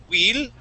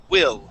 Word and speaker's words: will: Let's practice using a short I sound on the word will. So instead of saying will and using the Italian I, that E sound, we want to use a short I and say will.